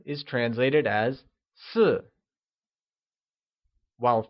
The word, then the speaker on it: 四: 4 translates to 四 and is said with a falling tone. Can you try and say 四?